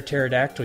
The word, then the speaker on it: pterodactyl: Why can't you hear a pterodactyl use the bathroom? Why? Because the P is silent.